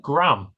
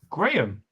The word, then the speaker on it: Graham: You said Graham, as in what you measure. And how do you say it? Graham.